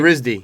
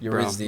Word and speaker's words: Eredivisie: How do you say it, Farid? Yurizdi. Yurizdi. Yurizdi. Like you studied at RISD.